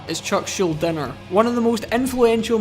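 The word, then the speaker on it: Chuck Schuldiner: not now I have no idea why I pronounced Chuck shoulders name with a G is not Chuck shielding er is Chuck shield dinner one of the most influential musicians in male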